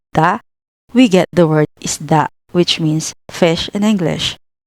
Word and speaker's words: isda: For example, in isda, the letters S and D are together, so you can mentally split them as is, da. This makes it much easier to read the word correctly.